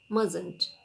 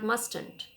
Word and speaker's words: mustn't: learn grammar mustn't she here t is silent mustn't it is not mustand this mustn't mustn't she sita must not